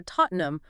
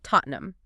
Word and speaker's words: Tottenham: accents, you might hear Tottenham with a glottle stop on that second T that makes the tea almost invisible. It's just a sensation of sound. Exactly. However, the most common nationally recognized pronunciation, the one you hear in stadiums and on news reports, is simply Tottenham. And even that is often reduced in rapid speech where the EN is swallowed, making it sound closer to Tottenham.